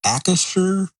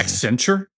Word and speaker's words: Accenture: And it's the Accushure I can never pronounce the dang name of that company. Accenture?